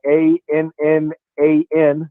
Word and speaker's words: Annan: carolina's hired a guy named tony annan uh a-n-n-a-n is how you spell his name is pronounced annan uh from atlanta united he's the